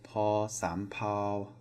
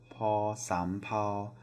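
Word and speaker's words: ภ สำเภา: This is also a P sound, and it is paw sam pao, paw sam pao. So paw rising, sam, and then flat pao, paw sam pao.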